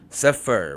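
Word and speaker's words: ספר: For example, the Hebrew word for book is suffer. Sofur. In in the example, let me let me make it bigger so you guys can see. Excuse me. So, we see here suffer. We see safer. We see the the first syllable s and we see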